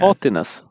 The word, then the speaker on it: haughtiness: I don't even know how to pronounce Haughtiness. it. Yeah, Haughtiness. it's like naughtiness, but haughty.